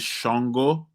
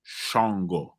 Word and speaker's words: Ṣàngó: place uh sister anusha it is shongo but spelled with just an s-a-n-g-o that s has a dot under it uh which makes the sh sound shongo and uh we covered